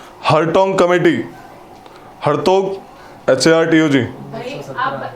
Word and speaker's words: Hartog: हरटोग committee spelling HARTOG. हरटोग committee ये भी education related थी. 1929. TOC के लास्ट में HORTOG. हरतोग.